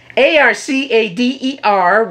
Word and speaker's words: ArcadeR: Is that the proper pronunciation? ArcadeR with a big R in the end.